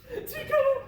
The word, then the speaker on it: Tico: Tico. with an emphasis on the second syllable.